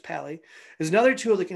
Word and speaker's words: Pa11y: to make fixes pali pa11y pronounced pali is another tool that